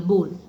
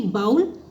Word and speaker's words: bowl: BOWL, बोल, ना कि बाउल। बाउल जो हम बोलते हैं वो गलत प्रोनाउंसिएशन है, करेक्ट वर्ड क्या होगा, प्रोनाउंसिएशन क्या होगा करेक्ट, बोल, ना कि बॉल, बोल, ठीक है।